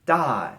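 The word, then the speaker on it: 大: starting with number 13 we're going to learn da and she'll meaning big and small so as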